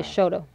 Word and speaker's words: Chouteau: you tell them no I think it started because the Indians called it shuttle they say Shoto mm-hmm I think that's where the pronounced - because these French